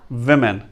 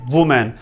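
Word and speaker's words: women: ना कि आप कहें वुमेन। वुमेन टोटली इनकरेक्ट है, वो मिस प्रोनाउंस्ड है, आप इस तरह नहीं कहेंगे। वुमेन नहीं है, विमेन है, विमेन।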